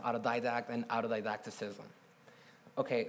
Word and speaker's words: autodidact: what if everyone became an autodidact and it's pronounced autodidact and out of didacticism okay so what if